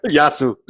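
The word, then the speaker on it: γεια σου: So how is it supposed to be pronounced? I don't really speak that much Greek, but like Yasu. Yasu.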